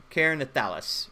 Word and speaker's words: Keranthalis: Basically, Alex said that I said it correct. Karen Keranthalis is the correct.